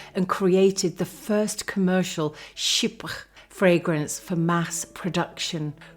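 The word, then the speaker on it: chypre: left some not but let's have a look at this word sh it's spelled CH h y p r e and it's French for Cyprus and there's a history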